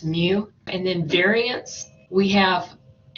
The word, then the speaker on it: mu: just put mu but you want to say it like the cat's mu and then variance we